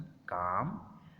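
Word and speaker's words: calm: L is often not pronounced before L, D, F, M, K. L, D, F, M, K ये वाले जो लफ्ज़ हैं इससे पहले L जो है वो प्रोनाउंस नहीं होता।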